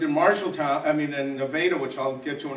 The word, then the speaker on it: Nevada: ton called Nevada Iowa now it's written like Nevada but in Iowa they pronounce it Nevada the worried you might